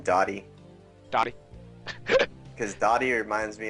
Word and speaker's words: DOTY: will be Noobs.DOTY, or D-O-T-Y. I don't know how to pronounce his name, but I believe it's DOTY. I like saying Doty better than Dotty.